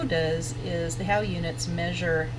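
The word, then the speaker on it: Haugh units: so that's really how those eggs get used how units and that's how you pronounce that H a ugh it's how how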